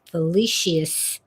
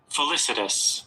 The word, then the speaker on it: felicitous: to the end of his felicious felicious remarks. Now I got to look that up. I'm sorry. Define felicitus. Felicitus. That was close.